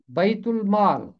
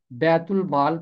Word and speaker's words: بیت المال: 3 بار آیا ہے۔ اس کا عربی تلفظ ہوگا بیت المال، کیونکہ عربی زبان میں بڑی یائے نہیں ہوتی، چھوٹی یائے ہوتی ہے، تو اس ناطے سے اس کا تلفظ ہوگا بیت المال۔ لیکن اردو میں آپ اسے بیت المال پڑھ سکتے ہیں اور یہ غلط نہیں ہوگا۔ لاوی دا یکیوں کا